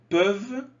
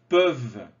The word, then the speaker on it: peuvent: Certains jeunes peuvent rester plusieurs jours sans dormir. Attention, peuvent. On ne prononce pas le ENT.